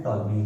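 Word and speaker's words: Ptolemy: 140 AD में एक person थे आपके टॉलमी, इनके नाम में पी साइलेंट है, इनका नाम है टॉलमी, स्पेलिंग चेक कर लेते हैं, टॉलमी।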